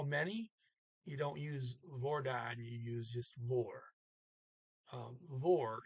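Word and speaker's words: hvordan: they spoke hei lordon is silent h v v-o-r-d-a-n but notice that this that's the word for how but you say how many you don't use vordon you use just war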